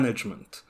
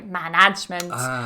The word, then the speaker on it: management: your experience Emma H it tends to be the stress so a lot of students they tend to say management so again they're adding those stronger vowels and moving the Stress Management so make sure you're